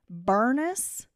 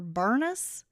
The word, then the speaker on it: Bernice: a great aunt and her name was bernus but it was spelled Bernice but they called her bernus and like my bestie